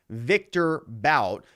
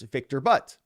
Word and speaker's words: Viktor Bout: Remember, there are Russian names, so I believe you're mispronouncing Viktor Bout. The correct pronunciation is Viktor Bout.